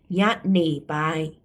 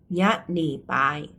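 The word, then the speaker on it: ညနေပိုင်း: เนาะ ตอน เย็น อ่า ภาษา พม่า ออก เสียง ว่า อะไร คะ ตอน เย็น ยะน่ ปาย ยะน่ ปาย อ่า ตอน เย็น มี อะไร บ้าง 16:00 น.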